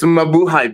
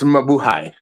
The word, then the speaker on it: Mabuhay: It's Mabuhay, bitch. It's Mabuhay.